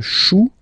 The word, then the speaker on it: chou: Then, un chou. Okay, remember, when you combine this C and H, you get the sound sh.